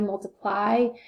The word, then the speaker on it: multiply: It's a Y, but it sounds like an I. Multiply.